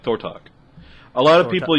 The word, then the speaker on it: Thortok: Thortok. Thor- It's like thorn without an N, and to talk to somebody but without the L. Okay. Cool. So like Thortok.